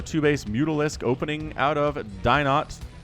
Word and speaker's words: DinoT: say it differently, but DinoT is what we're going to roll with here. I really want to say Dino because that's like the French pronunciation of those letters, but not French, man. He's Chilean.